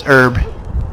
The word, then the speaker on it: herb: that's not her it's herb the H is silent sorry but hell out